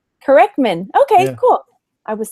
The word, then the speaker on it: Kerecman: because I can never say it right a corkman Corman okay cool I was saying it totally wrong